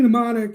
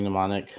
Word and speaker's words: Mnemonic: seen johnny uh johnny mnemonic i've seen that it's johnny is johnny mnemonics m is silent okay well why is